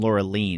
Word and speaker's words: Laureline: you're pronouncing her name laureline I guess that's how you pronounce it in French yeah but you know I'm sure most Americans will say Lura and that's fine I